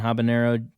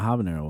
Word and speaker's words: habanero: I didn't know what habanero was habanero habanero is the same thing I think I think the joke is that the age is silent oh habanero I call